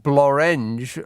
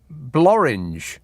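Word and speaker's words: Blorenge: Uh, and blurge rhymes with orange. No, it doesn't. Unless you're pronouncing it blurring, but it's spelled B L O R E N G E. Um, and that looks like blurge to me because it's got an E after the R as opposed to an A.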